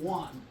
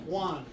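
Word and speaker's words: Waun: Is it Juan? Abe Juan? Spell it. W-A-U-N. Like Obi-Wan Kenobi.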